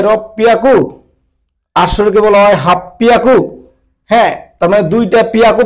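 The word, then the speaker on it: はっぴゃく: 8-এর ক্ষেত্রে ব্যতিক্রম রাখছে, এখানে হিয়াকু নাই হয়ে এখানে একটা মারু দিয়ে দিচ্ছে, মারু। এই মারু দেওয়ার কারণে হি হয়ে গেছে পি। আমরা হিরাগানা শেখার সময় শিখেছিলাম যে হির উপরে যদি মারু দেই তাহলে পি হয়ে যায়। ঠিক আছে, এর জন্য হাপ্পিয়াকু হবে, হাপ্পিয়াকু। হাঁচি হিয়াকু না বলে হাপ্পিয়াকু, এটা ব্যতিক্রম হয়েছে।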